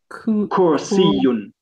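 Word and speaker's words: كرسيّ: Kursiyun. Kursiyun. It's not kur, it's kur. It's the Arabic ra, which I struggle to pronounce myself.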